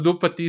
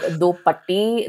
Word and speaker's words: Do Patti: Also, I want to say that, the way that Do Patti is written is Patti. And in Malayalam, we do have a word that is like Patti, but we pronounce it as Patti, which means dog.